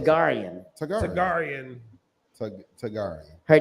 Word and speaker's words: Targaryen: How you pronounce Tagarian. it? Targaryen.